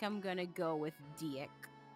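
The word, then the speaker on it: Dieck: in I think I think in the Japanese name it is dick. Um is it really? I think so. But I think in English it was terrible. It's uh it's Deak.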